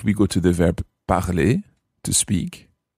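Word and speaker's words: parlent: If we go to the verb parler, to speak, how would you say they speak or they are speaking in the present indicative?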